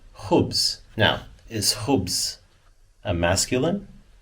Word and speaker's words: خبز: And we get the translation over here as khubz. Khubz. Okay? So here you have, look at the letters, the kh, and the be, and the z. Khubz.